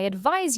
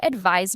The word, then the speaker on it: advise: Now the verb. Listen to the z sound. Repeat. Can you advise me on this problem?